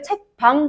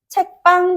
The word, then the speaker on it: 책방: 비읍 영향을 주게 되면서 발음할 때는 나 오늘 책 방 다녀왔다 아니죠 나오늘 책빵 다녀왔다 요렇게 발음할 수 있는 것 그외에도 빵을 굽다 나